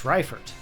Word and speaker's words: Raifort: Miss Rifford. I think Rifford is the name. I think that's the correct way to say it.